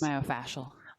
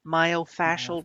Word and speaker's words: myofascial: but the myofascial myo tell me how to say it again please myofascial myofascial release first off what is